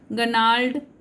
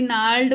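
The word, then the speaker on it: gnarled: गनाल नहीं एक्चुअली नाल्ड बोलेंगे ना, इसको नोम बोलेंगे, इसको न्यू बोलेंगे, इसको नोल्ड, क्योंकि जी में साइलेंट है तीनों में।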